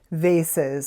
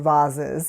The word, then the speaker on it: vases: I've got some vases or voses, however you like to pronounce it. Although I think voses are the very expensive type. So these would definitely be vases.